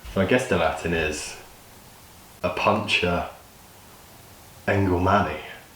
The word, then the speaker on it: Opuntia: complete dolt on camera I googled how to pronounce this it comes up as a puncture a puncher a puncher but definitely have had a pretty